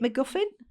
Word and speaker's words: MacGuffin: So what were we saying about, was it MacGuffin? Is that how you pronounce it?